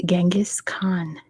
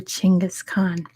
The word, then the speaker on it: Genghis Khan: got it it is Genghis Khan or chingus Khan there's like a million different ways to pronounce it if you like but